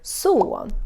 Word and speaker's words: son: But if you want to be more specific, then you have the word son, which is son. Min son, my son. Written just like English, but pronounced the Swedish way.